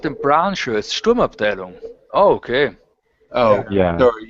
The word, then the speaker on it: Sturmabteilung: Yeah, it's Sturmabteilung.